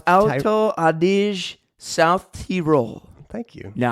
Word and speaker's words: Alto Adige: It's pronounced Alto Adige, South Tyrol.